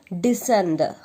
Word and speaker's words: descend: But while pronouncing, we will not pronounce the C. ഇതിൽ C ഉണ്ട്, പക്ഷെ നമ്മൾ C പ്രൊനൗൺസ് ചെയ്യില്ല. So the pronunciation of this word is descend.